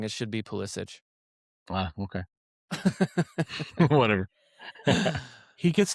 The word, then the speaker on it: Pulisic: No, Pulisic says his name wrong. It should be Pulisic.